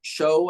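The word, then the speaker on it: Shough: Yeah, Tyler Shuck, I think is kind of how you pronounce that. It is a tough last name.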